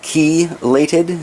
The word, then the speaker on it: chelated: oh speaking about iron is it chelated iron is a chi legged iron nobody knows for sure but I was told by a few different people to pronounce it as ki lated so or chelate in